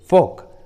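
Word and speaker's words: folk: फोक, फोक। देखिए इस English word में एल, ओ के बाद आया है, इसलिए एल का उच्चारण नहीं हुआ है, एल साइलेंट है, फोक।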